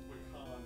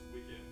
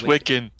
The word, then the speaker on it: Wiccan: By the way, I should point out, it's not Wakan, it's Wiccan. Yeah, it's Wiccan.